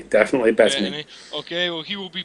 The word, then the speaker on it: Bettany: Bettany, definitely Bettany.